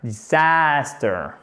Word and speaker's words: disaster: Disaster. Alors, j'ai fait une voyelle longue, mais c'était pour accentuer. C'est une voyelle courte. Mais l'accent tonique, il est bien là.